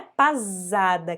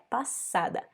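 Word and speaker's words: pasada: depois a gente tem o som do s na palavra passada então não é pazada que a gente fala é passada espanhol ramón passada e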